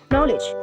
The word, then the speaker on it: knowledge: For example, in English, there is a word called knowledge. So it has K and OW and so on. So the K is silent, however, it's written.